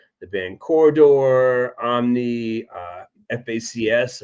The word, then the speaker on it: FACS: Kind of like some of your more recent post punk progenitors like um the band Corridor, Omni, uh FACS, I pronounce facts.